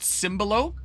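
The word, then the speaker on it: Tzimbalo: I got Cimbalo, which is spelled like T-Z-I-M-B-A-L-O.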